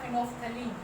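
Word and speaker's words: phenolphthalein: यहाँ पे methyl orange और दूसरा है फिनोफ्थलीन, फिनोफ्थलीन, फिनोल और फेथलीन, ठीक है, पी इसमें साइलेंट होता है, फिनोफ्थलीन, ठीक है।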